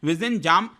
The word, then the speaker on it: Vizhinjam: देखो, यहां पर मैंने आपको बताया विजिंजाम पोर्ट इसको बोला जाता है, इसका प्रोनाउंसिएशन होता है विजिंजाम।